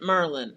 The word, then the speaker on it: Maryland: Maryland. Maryland. Merlin. How do you say it? How you say it? Maryland or Merlin?